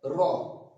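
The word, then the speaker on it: ر: তুতলা ভাবে হবে জাল তারপর আসছে র এটা তো একদম সোজা র বাংলা র এর মতো আমরা করবো র তারপর আসছে যা যেমনটা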